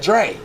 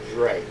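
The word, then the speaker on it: Jray: But it's also the D sound when the R is behind it. So like Dre.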